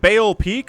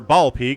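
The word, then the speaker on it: Baal Peak: Today going to be at the RV3 on Bale Peak or Ball Peak. Not entirely sure. I think it's Bale. B A L. I was taught to pronounce that Bale when I was a kid.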